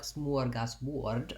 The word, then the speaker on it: smorgasbord: In Swedish, I think it's more like smorgasbord, and they have some umlaut symbols there, but we'll look at the American pronunciation. So in American English, it sounds like s'more, which is actually another word that we use to talk about a treat that we have when we go camping. So if you start with the word more and you add an S, s'more, that syllable has the main stress.